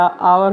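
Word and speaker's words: hour: Heirloom, तो यहाँ पे ऑनेस्ट मैन हो गया, आवर हो गया, आवरली हो गया, ऑनरेबल हो गया, ऑनरेरी हो गया, इन सब में एच साइलेंट है और ओ का साउंड आ रहा है, और ओ एक वॉल है हिंदी में।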